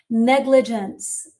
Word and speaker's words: negligence: You're saying that four is a negligence. Negligence. Negence. And so the G, the second G is a J. The first is a G.